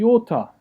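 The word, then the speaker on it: iota: the next letter is the yota and the auto here has two different pronunciations again depending on where it falls in the word okay i as in did or king okay or a y okay we'll talk about the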